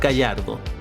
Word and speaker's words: Gallardo: I learned that you pronounce it Gallardo.